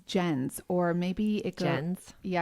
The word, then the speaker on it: Jens: Has a guy named Jen? It's Jens, or maybe it goes... Jens? Yeah, it's a German name, so it's okay. More like Jens. Jens, I think is how they would pronounce it.